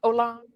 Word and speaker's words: Olan: Pronounced Olan. Olan. That's crazy. Okay, well, if you say, you didn't correct me earlier. Olan? No. You gotta let it roll off your tongue a little bit.